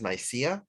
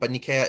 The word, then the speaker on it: Nicaea: The city of Nikea is usually pronounced in the West as Nicaea, but Nikea is the Greek name.